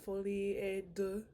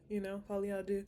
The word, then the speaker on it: Folie à deux: But I watched the Joker Folie deux, Folie à deux.